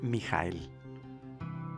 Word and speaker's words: Mijael: hoy veremos cómo escribir el nombre mijael que es cómo se pronuncia en hebreo pero en español decimos miguel vamos a ver por